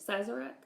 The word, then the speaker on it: Sazerac: a Sazerac is that Sazerac is that he pronounce it sighs Arak drink my dolly she